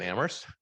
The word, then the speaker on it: Amherst: It's especially true in Amherst, but I have to say, the town where only the H is silent takes debate to a nearly every issue to a new level.